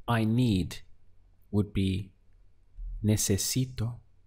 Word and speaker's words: necesito: To say I need would be necesito. Let's count the syllables. We have ne, se, si, to.